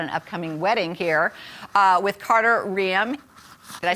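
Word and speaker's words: Carter Reum: She's got an upcoming wedding here with Carter Riem.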